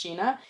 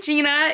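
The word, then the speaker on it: Gjeana: I feel like that would be pronounced Gina.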